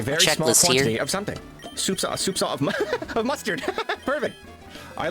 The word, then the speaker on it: soupçon: Okay, so it's a soft C, and then what is it? Soupçon. Another thing off the checklist here. A very small quantity of something. Soupçon of mustard.